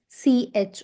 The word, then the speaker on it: Fisch: So fish is exactly same pronunciation as English, but the spelling is different. Here we have not just Fish, but Fisch, okay?